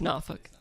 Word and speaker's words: Norfolk: to Northern Virginia but the growth of the Norfolk area especially in connection with the Navy and enrichment as well as it grows and pop how do you pronounce name of that city its Norfolk wait so Austin as our Texas is a